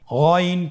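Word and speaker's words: غ: জবর গন জের গি গন পেশ গু আগের হরফটি বানান ছাড়া বলুন আউ পরের হরফটি বানান ছাড়া বলুন আবার বলুন গন হরফটি মোটা অক্ষর উচ্চারণ করার সময় অবশ্যই মোটা করে বলতে হবে আইন এবং গন হরফটি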